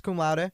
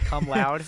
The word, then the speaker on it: cum laude: How do you pronounce that? Cum laude. You said it right. Yeah, I always thought it was. I wouldn't know how it's pronounced because I'm not going to get it. I always thought it was pronounced cum loud. I honestly, and I was like, that makes a lot of sense that you don't pronounce it that way.